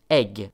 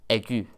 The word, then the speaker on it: aigu: See, French for whatever reason, has a lot of silent letters, and just this on its own would be pronounced egg, not aigu.